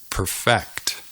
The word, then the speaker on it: perfect: to perfect that's right notice that the emphasis is on the second syllable perfect o perfect perfect right